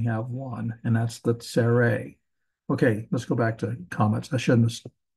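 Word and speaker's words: צֵירֵי: And then this next one is the two little dots below here, tsere. Tsere. And it's always the E as in they or obey.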